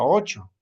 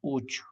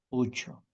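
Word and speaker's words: uchu: Y no se pronuncia ocho, sino ucho, ucho. ¿Ya? Casi como la O, casi, ucho.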